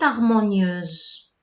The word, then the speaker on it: harmonieuse: Le petit prince avait une voix toute harmonieuse. Ok? Comment tu vas écrire? Je vais mettre T-O-U-T. J'ai mis la liaison. Ok. Pourquoi? Parce que l'adjectif harmonieuse commence par un H muet.